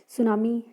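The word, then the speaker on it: tsunami: उसके बाद में सुनामी सुनामी इसमें टी साइलेंट है टी एस यू एन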